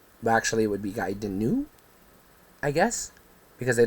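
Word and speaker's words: Gaiden: on didn't own it Ninja giden or gayen depending on how you say it uh just knowing what I know about Japanese because I studied in college I'm I'm inclined to say gayen based on the spelling because giden would be GE i d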